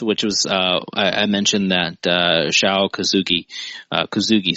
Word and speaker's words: Kosugi: But, Pray for Death, which was, I mentioned that, Kosugi, sorry, not Kazuki.